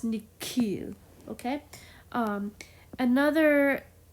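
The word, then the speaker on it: nihil: in Latin is that H is actually um pronounced as a k Nik and there's another Latin word m i i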